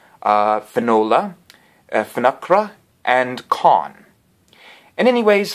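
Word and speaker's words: Fionnuala: pronounce these names correctly yeah that's the actual pronunciation uh Finola nakhra and con in anyways for many years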